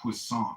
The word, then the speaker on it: Poisson: Not poisson. It was poisson. Poisson. Poisson. It's the name of a French scientist. It means fish. It looks like poison, right? Poisson? With two S's.